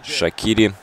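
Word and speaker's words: Shaqiri: уже к атаке шакири все-таки шакири правильно говорить а я вот уж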